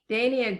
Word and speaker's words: Dania: And Dania Griffin, we talked earlier. Dania says his name like we say names in Italian, pronouncing all the vowels.